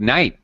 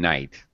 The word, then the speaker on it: knight: uh or you could pick Knight because there's no k sound in Knight o well there actually